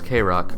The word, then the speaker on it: KROQ: The year is 2000, and the Los Angeles radio station KROQ, pronounced as K-Rock, are about to release their annual Christmas compilation CD, Kevin and Bean, The Real Slim Santa.